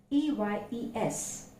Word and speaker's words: eyes: The word is EYES. how do we pronounce it? Usually we pronounce ice, but it's not eyes, it's eyes.